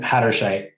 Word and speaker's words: Hatterscheidt: Hatterscheidt.